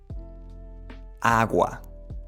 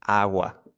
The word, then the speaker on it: agua: So, if you compare the G in English, it's often more strong. And in Spanish, it's softer, which means that the tongue, when pronouncing the G in Spanish, will come a little bit more forward and not staying that much at the back as it happens in English. Agua.